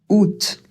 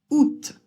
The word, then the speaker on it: août: Out. Non, vous n'avez pas mal entendu. On dit bien, on ne prononce pas le a. Ou ça fait ou l'accent absolument rien à la prononciation. Et le t à la fin, là aussi c'est une exception. Il va falloir le prononcer alors que normalement en français, on a tendance à ne pas prononcer les consonnes à la fin d'un mot. Donc on prononce août, septembre.